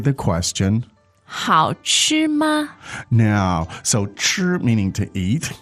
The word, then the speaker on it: 吃: Could you just contrast maybe with the syllable 吃, go through the 4 tones, how it would sound?